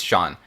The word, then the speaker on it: Jean: Is it John or Jean? I can't remember. I think it's Sean. At least that's how they pronounce it in the English dub. So that's what I'm going to go with.